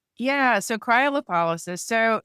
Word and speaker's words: cryolipolysis: I can't even pronounce this word. Can you do that for me? Cryolysis. Yeah. So, cryolipolysis.